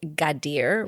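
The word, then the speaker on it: Gadir: Um, officially prior to being called uh, Kadis, C A D I Z, it was Gadier, which is spelled G A D I R.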